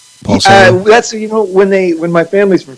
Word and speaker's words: Salo: When they moved to America, they wanted to sound more American, so they changed the pronunciation from Salo to Salo. So either was fine.